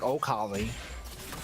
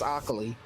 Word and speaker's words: Akali: Someone spelled Akali with an O now. Yeah, that's the other pronunciation, right? The like, well, I guess you could be really weird and be like, Okali. But I think that's Akali.